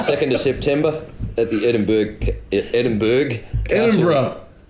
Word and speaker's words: Edinburgh: Saturday the 2nd of September at the Edinburgh. Edinburgh. It's spelled Berg. It's pronounced bruh.